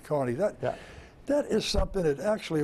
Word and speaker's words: Kearny: Yeah, it's spelled Kearny, but it's pronounced, Irish pronounce it Kearny.